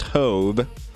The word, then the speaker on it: Hove: His name is actually pronounced Hove.